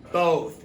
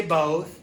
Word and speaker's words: both: not a short sound it's not a short o sound it's B both say both both great job okay now